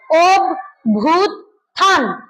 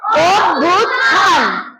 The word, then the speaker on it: অভ্যুত্থান: এটার উচ্চারণ হবে ওভূতান। আমার সঙ্গে বল অভিভূত। হ্যা। আবার বলুথান। তাহলে কি হল? অভ্যুত্থান বল অভুতান হ্যা আর এই শব্দটার উচ্চারণ